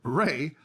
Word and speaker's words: Rea: here i appreciate it the same pronunciation how to get your yeah your name was ray so i had to get that down so we got that